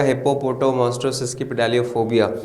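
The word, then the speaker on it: hippopotomonstrosesquippedaliophobia: जैसे यहाँ पे देखो हिप्पो, फिर पोटो, मोस्ट्रो, सेस्क्वी, पिडालियोफोबिया, और मिला के आपने पढ़ा तब आप पूरा वर्ड बन जाएगा हिप्पोपोटो मोस्ट्रो सेस्क्वी पिडालियोफोबिया।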